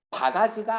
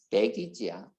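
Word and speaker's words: baggage: 자, 네 번째 바가지가 아니야. 배기지야. 바가지라고 읽지 마세요. 배기지.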